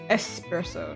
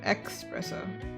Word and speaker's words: espresso: It's espresso, not espresso.